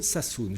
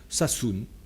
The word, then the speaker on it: Sassoon: Cet actionnaire, au service donc de Gian Roberto Casaleggio, s'appelle Enrico Sassoon. Je vous donne son nom, Sassoon, ça s'écrit S-A-2-S-2-O-N. Sassoon.